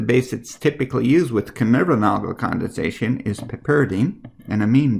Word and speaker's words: Knoevenagel: So, how to pronounce that? It's called the Knoevenagel condensation, or the Knoevenagel condensation.